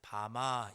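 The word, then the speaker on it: במה: 산당은 히브리어로 하면 바마 이렇게 발음을 합니다.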